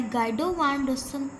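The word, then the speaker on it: Guido van Rossum: Develop bye गाइडो वान रोसम।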